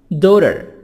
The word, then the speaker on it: daughter: Son, daughter. Daughter, GH silent, T, soft D between U and E.